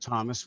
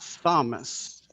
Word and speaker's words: Thomas: I pronounce it Thomas without the H, just not Thomas.